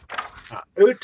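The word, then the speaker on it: οὔτε: But Ute is different, and there's a subtle difference.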